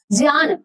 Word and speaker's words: ज्ञ: ज्ञान। तो ये जत्रज्ञ जो हम बोलते हैं ये ज है तो ज धन य चूले वाली अ तो ये ज्ञ है ये बना रही है ज्ञान